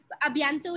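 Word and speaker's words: à bientôt: A bientôt is easy. You can always say a bientôt. A and bientôt.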